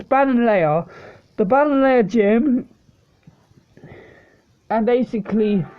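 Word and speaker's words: Ballonlea: It's Bananlea, the Bananlea gym, and basically, Opal makes them wear pink stuff.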